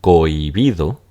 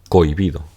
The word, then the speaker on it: cohibido: persona la pronuncia está cohibido donde esta es una in natural pero la realidad es que lo común es pronunciarla cohibido como un diptongo eh Ahora estas páginas